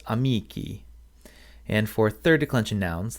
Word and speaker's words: amici: For second declension nouns, the nominative plural ending is an E, a long I, pronounced E, which gives us amici.